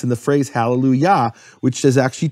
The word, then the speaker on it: Hallelujah: And what happens because of that is the kamatz of Yah, which Yah is always the emphasized syllable. It's Hallelujah.